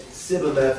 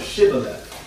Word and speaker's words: Shibboleth: from the tribe of Ephraim because they said Sibboleth instead of Shibboleth. In other words, the shin, they pronounced, shin is a letter in the Hebrew language, they pronounced the sh as opposed to the s.